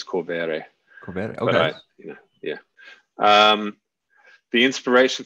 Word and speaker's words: Corvere: So what was your inspiration to write Mia Corvair? Am I saying it right? Corvair? Depends. I think the Italian pronunciation is Corvere.